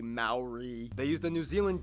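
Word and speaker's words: Māori: Korea and Japan yes by the way it's pronounced mo Rinat Maori Maori they use the New Zealand dollar as their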